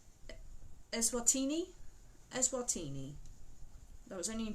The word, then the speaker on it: Eswatini: So I'm going to spell it to you before I say it. So it's ESWATINI.